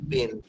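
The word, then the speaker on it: Paine: বানানটা থমাসের পরে ওনার সারনেমের বানানটা? PAN, পেন।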